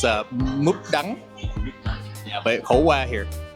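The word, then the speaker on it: mướp đắng: There's 2 versions. There's in the south, it's khổ qua. Yeah, and in the north, it's múp đắng.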